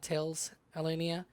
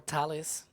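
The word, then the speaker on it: Thales Alenia: that's that's from uh Tails Alenia um or Talis as the it's the actual pronunciation you can see there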